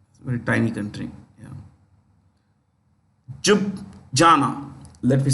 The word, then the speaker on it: Ljubljana: Ljubljana. Let me spell it.